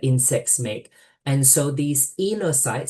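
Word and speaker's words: oenocytes: And so these enocytes, so the O in the front is silent, these enocytes are perhaps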